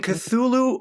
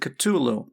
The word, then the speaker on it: Cthulhu: And then the last note of like the pronunciation guide was oh HP Lovecraft actually pronounced it Kulu.